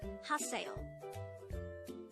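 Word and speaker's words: 하세요: next read this this is read as haseo and lastly read this this is read as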